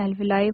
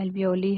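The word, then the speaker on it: alveoli: English में अल्वलाई pronunciation होता है। हिंदी में एल्वओली है।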